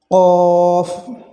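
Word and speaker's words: ق: কফ, এই হরফটি একটু ধাক্কা দিয়ে উচ্চারণ করা লাগে, অর্থাৎ যেটাকে তাসবিদের ভাষায় কলকলা বলে, এই হরফটিকে ধাক্কা দিয়ে উচ্চারণ করতে হয় বলতে ক কফ, জিহ্বার গোড়া তার বরাবর উপরে তালুর সঙ্গে লাগায় গিয়ে এই হরফটি উচ্চারিত হয় কফ কফ।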